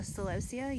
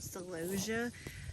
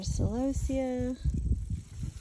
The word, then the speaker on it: celosia: Okay, now I'm cutting the celosia. You may have heard people call it celosia. That's not how we pronounce it, but you know, to each their own.